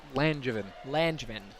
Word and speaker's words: Langevin: How do you pronounce it? Brooke Langevin? Langevin.